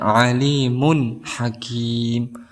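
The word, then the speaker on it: عَلِيمٌ حَكِيمٌ: izhar halqi yaitu H cara membacanya kita Jelaskan kita izharkan Alimun Hakim tidak boleh didengungkan tetapi harus dilangsungkan seperti itu kemudian kita ke selanjutnya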